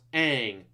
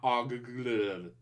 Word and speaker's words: Aang: It's supposed to be pronounced Aang, not Og.